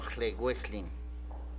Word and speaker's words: Llewellyn: Esos apellidos en galés, por ejemplo, Lloyds se debe decir Lloyds, y el otro Llewellyn.